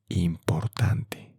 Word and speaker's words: importante: Well, importante. And the pronunciation of I, E, I, in Spanish is E. I, E.